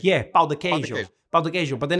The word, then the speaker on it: pão de queijo: But then if I say it wrong, sometimes I say pão, and then it sounds like I'm saying another word, which is apparently like for like ass or a butt.